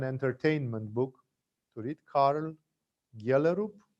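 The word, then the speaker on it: Gjellerup: book to read carl galerup it's written g j that's how danes pronounce and just to see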